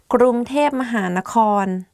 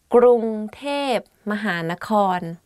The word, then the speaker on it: กรุงเทพมหานคร: going to do top 10 hardest words to pronounce. Let's begin. ก รุ ง เ ท พ ม ห า น ค ร Bangkok. ก รุ ง เ ท พ ม ห า น ค ร If you go to Thailand and you hear